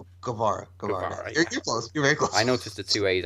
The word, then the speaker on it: Guevara: appreciates a bein vs Sammy Carrera now pronounce it Guevara I noticed the two